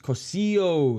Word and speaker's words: Cossio: Oh, it's Cossio is how it's pronounced.